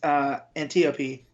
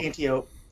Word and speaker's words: Antiope: as well, but it's Antiope is or cool. Antiope. However we're pronouncing it. I'd put Antiope because it's like Aphrodite, isn't it? And, right. So. I just said Antiope because it sounds like antelope.